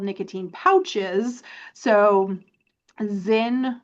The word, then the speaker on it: Zyn: So Zen, which is spelled Zyn, is one of the most popular brands right now, but there are a bunch of other brands as well.